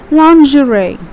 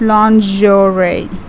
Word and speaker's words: lingerie: of woman woman usually wear inside so that's lingerie okay please look at the pronunciation it's basically this it's lingerie your ray okay look at the seconds label